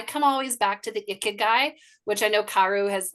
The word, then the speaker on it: ikigai: And I come always back to the ikigai, which I know Karu has, like, she corrected my pronunciation as a Japanese word.